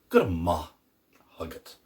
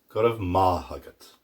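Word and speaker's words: Go raibh maith agat: Good ma hagat. Notice I use the more common pronunciation there. Good of ma hagat. And then Ulster. Good of my hagat.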